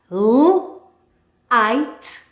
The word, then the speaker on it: light: We will look at some words that have GH and the GH is silent. Fight, fight. Light, light.